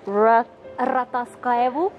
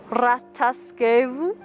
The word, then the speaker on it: Rataskaevu: Rataskaevu. Rataskaevu. Very well done. You did the R.